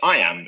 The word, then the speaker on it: iamb: way to remember what it means the word I am is pronounced just like the phrase I and now